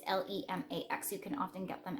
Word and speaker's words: Lemax: It's Lemax.